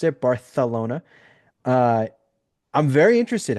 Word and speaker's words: Barcelona: Next week they're in Barcelona, as Aldis properly pronounced it, Barcelona.